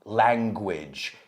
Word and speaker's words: language: Language. Si te fijas, rima con bridge. Bridge, language. Wow, es que es una I prácticamente.